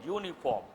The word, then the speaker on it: uniform: An is not correct because how is it pronounced? U, uniform. A consonantal sound.